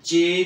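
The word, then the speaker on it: ji: उसको कैसे प्रोनाउंस करेंगे जे आई को प्रोनाउंस करेंगे ची चील नहीं होती चील उसको लाम हटा दे तो पीछे क्या गया चील ची ची अब जे आई से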